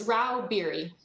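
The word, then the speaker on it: Rau-Bieri: how do you say your name ma'am it's Ral beer thank you uh Miss Stacy Stags leral lobbyist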